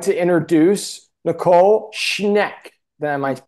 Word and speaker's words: Schneck: but um we would like to introduce Nicole schneck that I might pronouncing that correct yes yes you are all